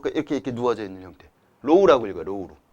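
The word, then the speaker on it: ρ: 뭐 목이 아파 이렇게 이렇게 누워져 있는 형태 로우라고 읽어요 로우로 어 로우 로우라고 하고 단면적은 사이즈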